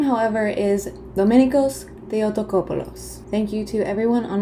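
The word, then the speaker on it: Domenikos Theotokopoulos: Can you tell I just got back from Greece and learned how to pronounce everything? His birth name, however, is Dominikos Theotokopoulos.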